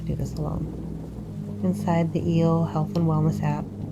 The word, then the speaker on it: E@L: Inside the EEL health and wellness app, E at symbol L, health and wellness app, pronounced eel like the ocean creature.